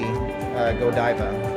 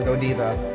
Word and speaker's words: Godiva: So when you come to Brussels, you have to see Godiva or Godiva. It's pronounced either way. I've heard it pronounced both ways.